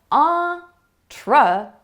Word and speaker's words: entrepreneur: Did you hear the schwa sound? It comes after the first stressed syllable. Entrepreneur.